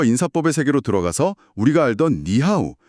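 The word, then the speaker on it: 你好: 아, 그래서 삼성이 연달아 올 때 중국인들은 자연스럽게 앞에 삼성을 이성, 그러니까 쭉 올라가는 소리로 바꿔서 발음해요. 오, 그래서 니하오가 아니라 니하오처럼 부드럽게 연결되는 거죠.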